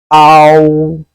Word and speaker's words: ao: have ow ow here we make this sound by gliding the letter a to all sounds how it comes out the first letter r sound the house and a sound have a heavy sound how while the last one is pronounced politely very light so this is how